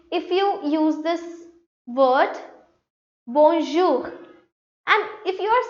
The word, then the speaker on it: bonjour: So it becomes bonjour. Why? Let me highlight this. Bonjour. Now, I told you how to pronounce this OU. It is OU.